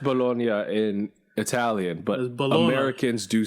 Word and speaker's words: Bologna: masks and medical shields for the hospital in Bologna. I want to say it's Bologna. Well, it's pronounced Bologna in Italian, but Americans do say bologna.